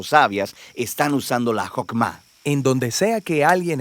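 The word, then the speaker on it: חכמה: hacemos que es esta fuerza en hebreo se pronuncia jopma y usualmente se traduce al español como sabiduría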